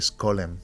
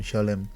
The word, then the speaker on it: Scholem: donde estaba Gersom Scholem, que creo que se pronuncia Solem, pero yo siempre he dicho Gersom Scholem, que es el gran conocedor de la historia de la cábala.